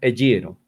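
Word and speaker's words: ἐγείρω: Y ahí está el verbo ser resucitado, eyiro, escrito eyeiro, pronunciado eyiro.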